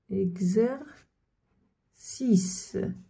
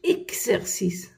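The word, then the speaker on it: exercise: اكزير سيس تمرين. واش قلت هنا؟ ما قلتش اكسيرسيس، ما قلتش اكسيرسيس، قلت اكزيرسيس كزو. الاكس تاعنا هنايا قراتها كزو اكزيرسيس.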